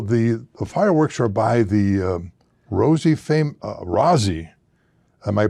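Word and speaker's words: Rozzi: Now, the fireworks are by the Rosie, am I pronouncing it right?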